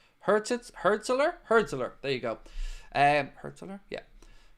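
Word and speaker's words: Hürzeler: Apparently now he's leaning towards a move to Brighton after having talks with Fabian Herzler, or how do you pronounce his name? Herzler.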